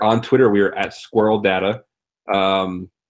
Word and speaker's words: Sqrrl: We are at Squirrel Data, and that's not spelled like you expect, right? It's like SQRRL.